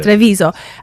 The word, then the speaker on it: Treviso: So you're originally from Treviso. Is this the right pronunciation? Treviso, yeah. Treviso. And how are you here?